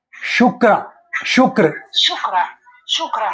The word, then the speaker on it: shukra: glamorous planet in Sanskrit how do you say shukra shukra shukra shukra s h u k r a shukra shukra shukra so it is Venus most